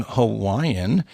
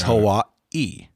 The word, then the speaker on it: Hawaii: And Kellen did take time to stress that the little apostrophe thing like we see in Hawaii is called an okina, and it is a guttural stop. Oh. Meaning if you see it, it means whatever sound you're pronouncing is supposed to stop and then finish with whatever the next vowel sound is. Cool. And so in this case, Hawaii is Hawaii, not Hawaii.